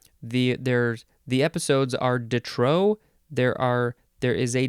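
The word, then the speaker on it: de trop: that the next word Detro dutrow that's this word uh it's two words d e and then t-r-o-p there's a p in there but you pronounce it Detro adjective from 1752 too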